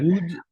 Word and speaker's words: would: would a woodchuck. Alors là, là, c'est l'auxiliaire modal would. Donc le would, le L ne se prononce pas. Donc, En fait, wood.